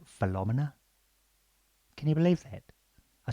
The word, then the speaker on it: Philomena: like they do, and she said, "Actually, it's pronounced Philomena." Can you believe that? I said, "I'm sorry." She said, "It's not Philomena, it's Philomena."